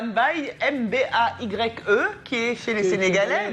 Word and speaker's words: Mbaye: qui n'étaient pas à Bassa n'arrivaient pas à prononcer Mbaye. Tout le monde s'arrêtait sur Surtout que Libarou. ça ressemble à Mbaye, M-B-A-Y-E, qui est chez les Sénégalais.